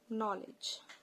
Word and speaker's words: knowledge: Now, if we say knowledge, when we break these words into parts, like know, K-N-O-W, know, we know that we pronounce this as no.